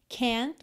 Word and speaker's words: can't: get near you now Então nesse T but can't você praticamente não ouv o t né can't get near you